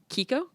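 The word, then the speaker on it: Quico: minute entrant entrant uh oh I hope I'm pronouncing this correctly uh Kiko that's right Kiko Conco uh former congressman who I saw on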